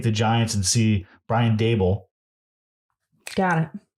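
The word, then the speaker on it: Daboll: I'll take the Giants and see Brian Dable. Got it. Not Brian Dabble. Brian Dable.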